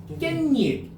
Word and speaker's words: 깻잎: 깻잎 편하게 발음해야 돼. 깻잎 깻잎 깻잎 깻잎 깻잎 맞아요. 그럼 니언이 몇 번 덧나요? 두 번 덧나죠.